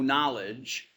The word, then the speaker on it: knowledge: So agnosticism means literally no knowledge. Okay, not, gnosis, knowledge, gnosis. Notice its connection with our word kno. We don't pronounce the K anymore, but we used to.